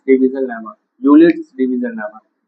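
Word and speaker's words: Euclid's: तो इससे निकालना है इक्विलिट्स डिवीजन लेमा, यूलिट्स डिवीजन लेमा। इक्विलिट्स मत पढ़ना, यूलिट्स पढ़ना, ई साइलेंट है।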